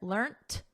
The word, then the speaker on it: learnt: So notice we have a soft T here, learnt.